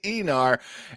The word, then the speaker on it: Aenar: I know how to pronounce Aenar. Yeah. Like e-cigarette or e-bike. Like Eon Flux. It's the Aenar, and that is the title of tonight's episode.